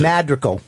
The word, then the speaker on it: Madrigal: So what's the real pronunciation? Madrigal.